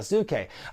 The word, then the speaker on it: Sasuke: legal review as well I've always heard the Great's asuke pronounced with three syllables even by guys who ought to know so I'm gonna take their word for it and say it's the great suit Kay before the match